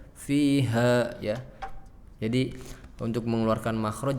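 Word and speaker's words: فِيهَا: 13 tsumma la yamutu fiha, bukan fiha wala yahya. Jadi makhraj H-nya enggak keluar gara-gara fi-nya diseret. Fiha, jadi fiha langsung mengap. Harusnya dipaksakan di dadanya. Fiha ya.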